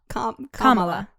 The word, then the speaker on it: Kamala: it like that right kamala kamala yeah the accent is on the first a like in spanish when you put an accent on something yeah it would be on the first day it